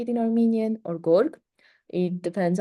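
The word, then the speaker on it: գորգ: carpet, as we say it in Armenian, or gorg, it depends how you want to spell it.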